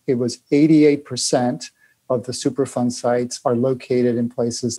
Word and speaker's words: Superfund: Superfund, emphasis on fund, not fun, was a program created by the federal government in 1980 to help pay for the cleanup of hazardous waste sites.